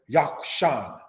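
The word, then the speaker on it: Jokshan: Yakshan, pronounced in the language as Yakshan, means fowler.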